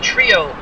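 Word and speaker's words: Trillo: Manny Trio, thank you very much, Greg Gurecki, for the pronunciation of the last name, as once again had a brain fart.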